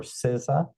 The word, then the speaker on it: CISA: to you to ISACA certification, the CISA or CISA, as we pronounce it.